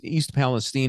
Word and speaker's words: East Palestine: is East Palestine, which, did I pronounce that correctly? Because I would normally, think to say Palestine, but it's East Palestine, Ohio. Kind of like Young Frankenstein, isn't it?